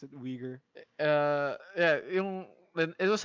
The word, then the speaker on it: Uyghur: yeah uyghur yeah right right that's how you pronounce it uyghur uh yeah it was like shot and made